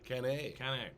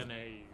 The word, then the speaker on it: Cannae: Cannae. That's the Latin pronunciation. The Or Battle of- Cannae.